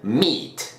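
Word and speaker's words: meat: tal estas dos palabras ambas se pronuncian mit la primera es mi de carne y la segunda smith de conocer por primera vez en inglés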